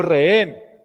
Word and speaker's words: rehén: Esta sí es aguda y termina en N. Rehén. Hay una cosa aquí particular con lo que tiene que ver con la H muda. Como todas estas son normas fonológicas que tienen que ver con los sonidos, la H no existe. O sea, como la H no suena, para las normas de